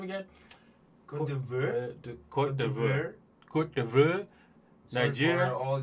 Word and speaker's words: Côte d'Ivoire: How do you pronounce that name again? Côte d'Ivoire.